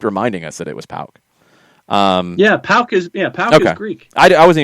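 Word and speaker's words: PAOK: And I think you always mispronounced it. But now you got it right. Somebody kept reminding us that it was Pauk.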